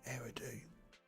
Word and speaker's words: Eridu: how you say it, Eridu.